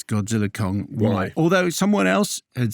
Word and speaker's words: Godzilla x Kong: just I'm just saying so the ex is silent as in yes and